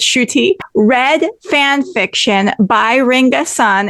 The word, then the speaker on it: Schutte: Nairn, and Samba Schutte, who is now pronounced Schutte. I always pronounce it Schutte, but it's Schutte.